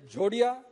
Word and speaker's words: Jhodia: Sir, there is Jodia, the spelling is Jhodia or Jodia. When we pronounce it, it is same, or Jadia.